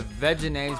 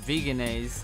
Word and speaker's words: Vegenaise: I really like Follow Your Heart's vegan mayonnaise, the Vegenaise, which I pronounce Vegenaise, and I really enjoy their cheese on various pizzas and things.